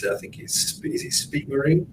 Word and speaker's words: Speake-Marin: I'm looking forward to seeing all the other brands, especially, I don't know how you pronounce it. I think is it SPEAKE-MARIN? SPEAKE-MARIN, yeah.